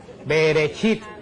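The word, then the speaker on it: בראשית: El Génesis en hebreo se diceit. Beresit se dice que la palabra bereshit quiere decir en el principio.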